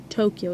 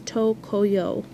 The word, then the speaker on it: Tokyo: of dumb but so in japanese tokyo isn't actually tokyo it's tokoyo which is actually a little